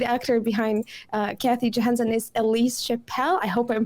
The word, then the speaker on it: Ellise Chappell: It's Ellise yeah. Chappell. That's how she called it. Ellise Chappell. Yeah. Ellise Chappell.